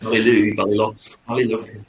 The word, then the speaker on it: Ballylough: pronounce it. Perfect. Ballylough.